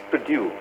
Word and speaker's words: produce: And another example would be produce. The farmers produce vegetables. Produce. The stress is on due.